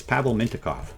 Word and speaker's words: Pavel Mintyukov: Mint Minty Minty It's Pavel Mintyukov.